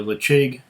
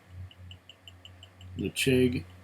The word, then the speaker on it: Ledaig: Ledaig Sinclair Series. Someone would pronounce it Ledaig, but I pronounce it Ledaig. Just because. I know Ledaig is probably the preferred way of pronouncing it.